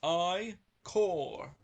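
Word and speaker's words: ichor: fill us with magical i-cords pronounced i core choose your i-core wisely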